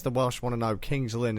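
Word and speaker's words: King's Lynn: Welsh want to know Kings Linn is pronounced Kings Lin okay good well if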